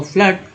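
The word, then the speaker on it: flood: में हो, सुन, और फ्लड में डबल ओ का उच्चारण जो है अ के रूप में होगा, फ्लड, और फ्लोर में डबल ओ का उच्चारण जो है ओ के रूप में हो, फ्लोर।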